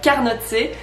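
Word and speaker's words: carnotzet: Déjà, faut le prononcer correctement. Un carnotse. Ou alors, si vous êtes valaisan et que vous êtes en fin de soirée, vous avez la flemme, vous pouvez abréger et dire un carnot.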